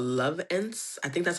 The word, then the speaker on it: Lovense: Okay, so I love love love love love this brand called Lovense. I think that's how you pronounce it, l o v e n s e, Lovense.